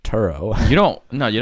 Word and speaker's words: Turo: not give it to like to row or something oh no Paul it's pronounced Turo oh you don't know